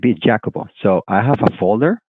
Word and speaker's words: Jacopo: Okay, in their vocabulary they have Jacopo and two more, but they pronounce like this, Jacopo.